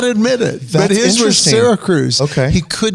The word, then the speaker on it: Syracuse: I'm like, "You mean Syracuse?" And he goes, "No, it's pronounced Sarah Cruz." Sarah Cruz. And I was like, "Wait a minute, whoa. Where's the other R?"